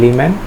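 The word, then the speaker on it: Lyman: তাহলে লিমেন series, বামার series, এটা হচ্ছে লিমেন বা লাইমেন উচ্চারণ করা হয়, লাইমেন, এটা বামার, এটা হচ্ছে পার্সন ব্র্যাকেট ফান্ড, এই যে পার্সন ব্র্যাকেট ফান্ড সিরিজ।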